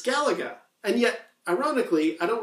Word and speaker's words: Galaga: And I've heard some people refer to this sequel as Galaga, kind of rhyming with Galaxian, Galaga. But that doesn't sit right with me. It's like, no, it's Galaga.